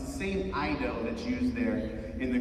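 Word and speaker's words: eido: It's spelled E-I-D-O, and it's pronounced Ido.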